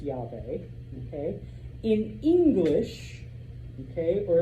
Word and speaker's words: Yahweh: If you notice, ancient Hebrew, no vowels, just like every ancient language, but it is pronounced Yahweh.